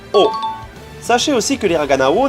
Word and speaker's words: を: Tout d'abord, il faut savoir que la particule s'écrit avec l'hiragana wo, mais se prononce O.